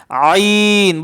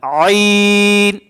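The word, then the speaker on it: عين: আইন বলেন আইন আবার বলেন আইন আবার বলেন আইন এ আইন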